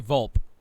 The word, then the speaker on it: Volpe: Now I'm gonna guess it's either Volpe or Volpe. I say Volpe. Come on, you guys are from New England. You should know it's Italian. It's Volpe. Volpe.